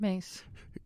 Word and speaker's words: Myss: Mace.